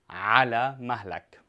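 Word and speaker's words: على مهلك: Ala mahlak. Now, the ayn here is the throat letter, so make sure you pronounce it correctly.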